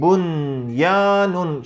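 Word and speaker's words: بنيان: anam kelimesinde de uygulayacağız okunuşu nasıl yapacağız bu yanın şeklinde değil de ishal yapar gibi bunyanun şeklinde bunyana şeklinde okumamız gerekiyor iki kelimemiz daha var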